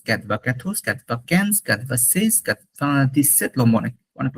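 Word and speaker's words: cent: ক্যাথোস, ক্যাথভা Cannes, ক্যাথভা সেস, ক্যাথভা দিসেট, লম্বা অনেক অনেক লম্বা। ক্যাথভা দিস উইথ, ক্যাথভা দিস নফ। 100টাকে বলে song. It sounds like song, song, not Saint, not Saint, it's song, song.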